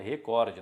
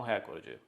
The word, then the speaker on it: recorde: estranho recorde lembra que a pronúncia da palavra certa é recorde não recorde Pode ser reescritos sem